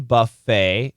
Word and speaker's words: buffet: appreciation Buffet an appreciation Buffet this is a long a y there's no T it's French after a trip to